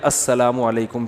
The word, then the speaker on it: السلام علیکم: میرے بھائی کا السلام علیکم اور صلی اللہ علیہ وسلم کا صحیح تلفظ بتا دیں. السلام علیکم کا ہے السلام علیکم, جو آج کل لوگوں نے ساشے پیش کر